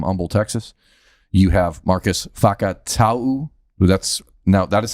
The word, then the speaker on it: Fakatauu: You have Marcus Fakatau. That is how it's pronounced. Fakatau.